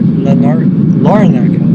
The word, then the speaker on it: Larnaca: Larnaca, sorry.